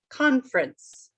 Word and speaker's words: conference: lot of words um conference okay the way i say it it matches our pattern here first syllable is stressed conference all right now what